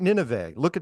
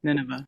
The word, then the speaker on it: Nineveh: And then people kept saying, look at Nineveh, which is spelled Nine Va, right? Va, right? Yeah, so, Nineveh, yeah.